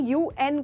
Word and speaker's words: UN: पर ये देखा, इसको मैंने उन नहीं कहा, इसको मैंने UN कहा। तो ऐसे जो अब्रीविएशंस जिनको लेटर लेके प्रोनाउंस किया जाता है उनके आगे द लगता है। जैसे कि I want to बी a part of द UN, द UN।